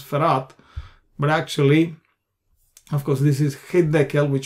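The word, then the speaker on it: פרת: here you can see farat p-h-r-a-t frat that's the name farat far out in Hebrew uh well here it is the dot is not there so we pronounce farat but actually of course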